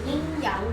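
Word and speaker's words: 阴阳: Esse G no final não pronuncia.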